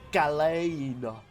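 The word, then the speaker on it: Galan: deaths were inevitable uh gallon I'm not sure if that's entirely pronounce it it's a g a l a n that sounds like how you would say it that's about right or maybe if you're like super British galain no I'm British I'm out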